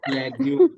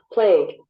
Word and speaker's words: plague: प्लेग्यू, प्लेग्यू। According to CDC, प्लेग्यू, आज आप सुने प्लेग्यू का प्रोनाउंसिएशन। प्लेग्यू, plague, plague, Plague.